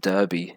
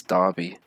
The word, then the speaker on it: Derby: Yeah, it's not Derby, it's Derby. So no, not sure why, but it is. So that's it. Derby.